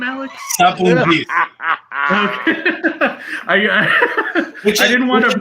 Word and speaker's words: Sapountzis: Sapountzis.